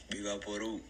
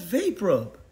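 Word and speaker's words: VapoRub: Viva Peru. Exactly, that's how you say it. Nah, that's... look. Wait right there. Alright. Man, that's vape rub.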